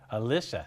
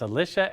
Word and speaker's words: Alisha: to heritage power now your name's Alicia Alisa see I said it wrong it's Alicia and your last name